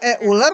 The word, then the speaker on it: Euler: Ini Euler kan?